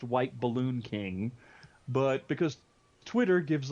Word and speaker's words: WHTBLLNKING: My Twitter, it's supposed to be pronounced White Balloon King, but because Twitter gives like a character limit, thanks a lot, it is spelled WHTBLLNKING.